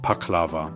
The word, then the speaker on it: Pakhlava: The Armenian version, the Armenian answer to this baklava, is pronounced Pakhlava.